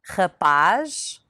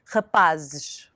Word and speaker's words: rapaz: Also note how the sound of the Z changes from the singular to the plural. Rapaz, rapazes. Feliz, felizes.